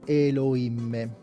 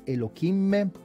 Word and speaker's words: Elohim: Intanto spendiamo due parole sulla pronuncia. Normalmente si dice Elohim, si può anche dire Elohim. Noterete che non pochi dicono Elohim. Elohim è sbagliato, non è corretto, lo diciamo fin da subito.